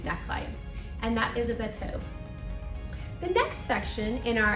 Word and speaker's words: bateau: Of course, I prefer the French pronunciation bateau.